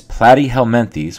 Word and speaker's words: Platyhelminthes: advancement truly above their relatives the nidian these platty helenes which is how you pronounce this word here is our next philm